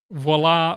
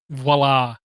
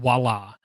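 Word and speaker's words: voilà: think that last week even when I said voila I right in the middle of saying it heard myself saying wallah like wah Luigi I don't know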